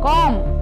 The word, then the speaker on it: comb: The letter B is silent in the final MB. Comb.